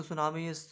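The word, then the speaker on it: tsunami: इसका नाम TSUGARU, T silent है यहाँ पे। जैसे सुनामी होता है, टी से स्टार्ट होता है, उसमें टी साइलेंट होता है, इसी प्रकार से सुगारू जलसंधि।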